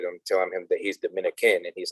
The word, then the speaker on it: Dominica: telling him that he's Dominican and he's like no I'm not Dominican I have family from Domico yeah Dominican people say Dominica they don't say Dominica Dominica it's like that first eye is silent Dominica okay okay and